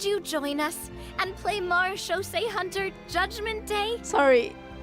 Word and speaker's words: Marechaussee: would you join us and play Mars Shosei Hunter Judgment Day? Sorry. So Navia pronounces it accurately, right? So marechaussee.